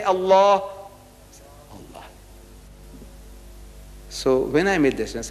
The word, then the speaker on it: Allah: and make an effort it is not it's Allah not Al is Allah say Allah Allah so when I made this look here it